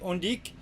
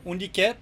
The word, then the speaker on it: Undique: Just for the new viewers, I wanna introduce a little bit what we do here at Undique or Undique. There's two ways to pronounce it.